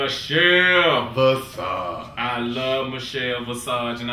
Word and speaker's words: Visage: I love Michelle Visage, and I'm finally saying her name right because I've been spending years calling that lady Michelle Massage, so I'm finally saying it right.